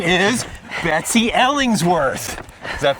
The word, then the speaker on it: Betsy Ellingsworth: Well, her name is Betsy Ellingsworth. Does that pronunciation sound all right for you?